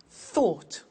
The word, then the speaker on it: thought: Think, thought. Watch that again. O-U-G-H-T, ought.